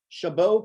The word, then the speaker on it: Chabot: bay area he received an associate's degree from chabot college am i pronouncing that right yes all right thank you chabot college in park technology and a bs degree